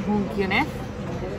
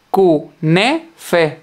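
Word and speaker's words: künefe: Vamos a comer kunef. No sé si se pronuncia así, pero me da igual. No se pronuncia así, se dice kunefe.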